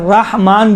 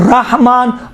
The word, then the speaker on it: الرحمن: دیکھیں بسم اللہ میں بھی بسم اللہ الرحمن بھی صحیح ہے, رحمان بھی صحیح ہے, رحمان رحمان دونوں صحیح ہے.